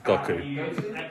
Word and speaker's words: Goku: It's Goku.